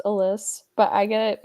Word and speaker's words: Alys: expert for the Cleveland Guardians let's bring on how you doing I'm good and I'm going to throw you for a loop it's pronounced Alys but I guess get mispronounced all the time